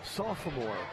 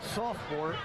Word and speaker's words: sophomore: You were one of the few people I know that says sophomore, which is the correct way to say sophomore. The rest of us say sophomore and leave the O out.